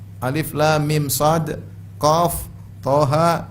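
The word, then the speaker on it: طه: lagi misalnya apa ee Thaha ya contohnya lagi apa Yasin thha jangan dibaca thah Bacanya apa th ha Yasin dibaca jangan dibaca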